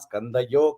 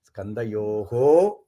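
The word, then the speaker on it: स्कन्धयोः: So again, it is not Skandayo Khadgini. Skandayoho Khadgini. So how do you say Skandayoho Khadgini in the Sandhi?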